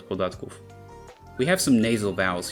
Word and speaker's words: podatków: Remember that o with an accent is pronounced as u, and final v devoices to f, podatków.